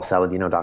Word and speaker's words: Saladino: you know MD com my last name is spelled like salad and dinosaur sa la di and Oh Paul Saladino com is my website